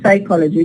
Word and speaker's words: psychology: We say psychology. Just we produce the sa. The pa is written but is not produced because it's not allowed